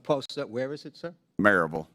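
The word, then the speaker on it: Maryville: it would what post where is it sir marville it's pronounced merille if you're from there but it's you would pronounce it marville m a r yv i l l e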